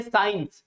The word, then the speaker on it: science: जैसे हम बोलते हैं साइंस, क्या बोलते हैं? साइंस, SCIENCE। तो आप देखते हैं इसमें हम केवल सा बोलते हैं। क्या बोलते हैं? साइंस। सी का कोई प्रोनाउंसिएशन नहीं होता है।